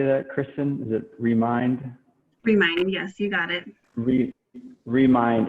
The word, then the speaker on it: Remind: Remind, yes, you got it.